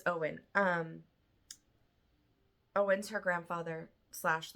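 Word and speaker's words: Eoin: an and Thomas and Owen I had to look up how to say it in this book it's spell e o i n and it's Owen um Owen's her grandfather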